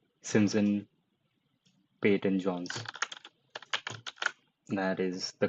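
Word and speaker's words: Simon Peyton Jones: Simpson Peyton Jones, that is the correct pronunciation that I'm going with.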